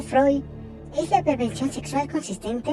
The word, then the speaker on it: Freud: Según Freud, pronunciado Freud es la prevención sexual consistente en obtener el mayor placer sexual con cadáveres.